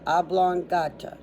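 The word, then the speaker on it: oblongata: the oblong and the ablonga. Just how it sounds.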